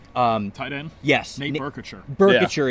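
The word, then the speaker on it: Boerkircher: Burkitcher is how you say his last name.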